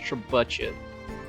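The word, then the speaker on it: trebuchet: Get the trebuche. Get rid of this ballista. Uh, actually it's pronounced trabachet.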